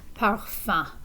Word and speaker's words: parfum: So this UM at the end is a nasal sound. Remember that nasal sounds, that sound has to travel through your nose. So parfum, fun. And the S is silent, even if we're talking about more than one perfume.